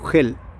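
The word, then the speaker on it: אהל: la palabra tienda oel pronúncias oel con j emitida desde la garganta gel y harán un santuario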